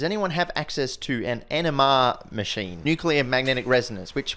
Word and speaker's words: NMR: to it as uh rather than n mrr just sort of one syllable as NMR I've got a lot